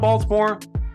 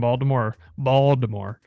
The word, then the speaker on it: Baltimore: It's actually pronounced Baltimore. Don't say Baltimore. They'll correct you. It's Baltimore. It's like saying New Orleans. Yeah, almost think like bald head, like Baltimore.